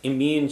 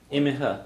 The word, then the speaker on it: Imithe: Imithe, yeah. Imithe or just Imi, depending on where you are.